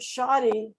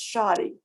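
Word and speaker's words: Shadi: and it's spelled s-h-a-d-i that's a person's name and it's pronounced shoddy um so make if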